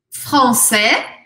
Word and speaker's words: français: Français, não falo esse S. Française, française.